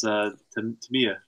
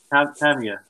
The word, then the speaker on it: Tamiya: He gave me a lecture on how to pronounce Tamiya.